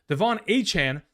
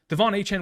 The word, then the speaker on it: Achane: interview with Peter King, Achane specifically said that that's how he wants his name to be pronounced. So going forward, we're going to be very mindful in the idea that that's how we're going to pronounce, not Achane.